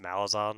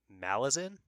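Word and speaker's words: Malazan: Steven on fanty that it's not pronounced malison which was exactly how I was saying it too it might Malin or something I I might still be saying it wrong but I know it's not malison but either way um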